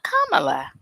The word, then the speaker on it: Kamala: It's like comma, but Kamala.